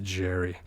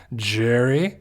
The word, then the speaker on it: Jerry: for sure so okay we didn't say my name correctly it's pronounced Jerry Jerry Jerry Margo sorry but